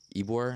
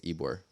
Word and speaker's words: Ybor: I never pronounce this right. Ybor, I think it's Ybor.